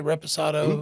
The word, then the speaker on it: reposado: Do you say reposado? Reposado, do you say añejo? Reposado, añejo. Yes, sir. And maybe you'll pronounce añejo.